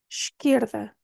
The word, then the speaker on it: esquerda: rainha na penúltima sílaba esquerda esquerda é normal vocês veem um e e pensam é qualquer coisa talvez o espanhol influenci também mas este som no início tem um som de esquerda est aqui é difícil